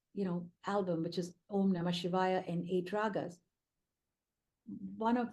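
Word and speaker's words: Om Namah Shivaya: give you an example om namashivaya five syllables we all go to a temple we might pass by a Shiva Temple and say om namash om namashay from childhood we've been conditioned to do that yes or no and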